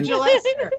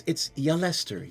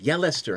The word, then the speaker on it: Yelester: Hey, Gillester, can we talk in private? It's Yelester. Yelester. How many times must I tell you? The J is silent, darling.